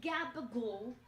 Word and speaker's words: gabagool: Taking the gabagool and shit out of the fridge. Gabagool. Over here. Hope it's from a slice of gabagool. Let's get back to that gabagool. Gabagool is the Italian pronunciation of capicola, which is a cured